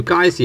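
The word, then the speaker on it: 街市: meaning silk okay so guy guy is the street c c is the place right or market so gu C is the marketplace right if you somehow mess up with the tone of C instead of a a lower pitch you pronounce it using a higher pitch the then you you you end up with something that people cannot understand so uh the relative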